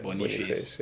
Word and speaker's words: Boniface: Is that how it's pronounced? Yeah, Boniface.